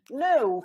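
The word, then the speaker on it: know: like if we say no for example every time when you see this combination K and it's a rule that K is silent so you don't say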